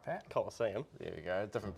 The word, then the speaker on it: Colosseum: Colosseum. There we go. Different pronunciations, you see.